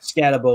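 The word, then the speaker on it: Skattebo: name I don't know it's cam scabo I believe yeah scabo is how I've always heard it so we've got scabo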